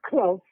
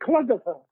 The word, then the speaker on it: Clough: And they used to call me, my name is Clough, C-L-O-U-G-H, but they couldn't pronounce it. They used to call me Cloughifer.